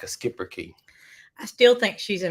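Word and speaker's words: Schipperke: a skipper key yeah I'm not sure how you exactly say that that is how you say it okay a skipper key it's not how it's spelled yes and I had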